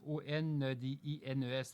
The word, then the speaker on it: ondines: Des odines, O-N-D-I-N-E-S, des odines. Il y a aussi des néréides. Je ne prononce B, N-E-R-E-I-D-E, des néréides.